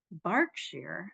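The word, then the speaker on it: Berkshire: great deal of time near barkshire I think that's how they pronounce it in England where there are also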